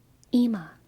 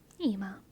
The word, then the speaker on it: Ima: Ima. That sounds familiar to me. Ima. It's spelled with an I though, McJake. I-M-A. Ima. But it's an Anglicization of the Hebrew anyway, so the spelling doesn't really matter.